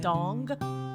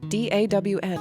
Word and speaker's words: Dawn: Dong? No, Becky, no. Definitely not. Dong like a ding dong or like a schlong dong? Neither, Becky, no. Golden Just what? no. Don't No. spell it. Smack. D-A-W-N. Oh, Dawn! Yes.